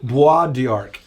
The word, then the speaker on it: Bois d'Arc: Okay, so I'm always fearful of how to pronounce Bois d'Arc. It's a French word, BOISD''A''C. Bois d'Arc is the name of a reservoir that's going to become, basically what we would all call a lake.